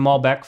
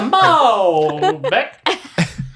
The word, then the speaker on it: Malbec: Get the Malbec. No, it's you're putting the emphasis. Malbec, yeah. You're putting Get the Malbec. putting the emphasis on the wrong syllable.